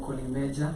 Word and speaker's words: Collymejah: Yeah, I go by the name Kolimeja.